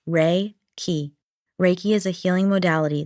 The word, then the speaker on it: Reiki: Pronounced ray key.